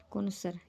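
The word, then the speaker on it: connoisseur: कोनोसर, ये इसकी प्रोनाउंसिएशन है।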